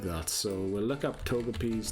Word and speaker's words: Togepi: so we'll look up togepi's name quickly uh in Japanese it's probably is Togepi as well it is toep p like a long e at the end let's see toep and